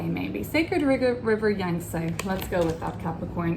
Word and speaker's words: Yangtze: oracle and you've got oh i never can pronounce this word sacred river youngst um yang say yang say maybe sacred river yangtze let's go with that capricorn if you know